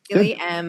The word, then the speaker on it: Miele: Is that how I pronounce it? Miele? Yeah, perfect. Yeah. Miele, with Wendell Jamieson.